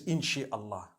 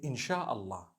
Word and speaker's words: insha Allah: inchi means to create no one says inshi Allah they say insha Allah that's what it is